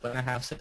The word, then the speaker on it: Blennerhassett: And then if you're going east, there's the Blennerhassett, that's how it's pronounced, Blennerhassett Island Bridge that was opened in June of 2008.